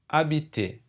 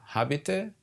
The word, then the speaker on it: habiter: You see, you don't pronounce the first letter. The H is silent. You don't say habiter or house, like as you would pronounce the word house or high. You just say habiter.